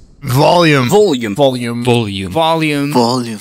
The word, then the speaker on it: Voljum: pronounce my name like Vol'jin off Thomas it's pronounced like this volume volume volume volume volume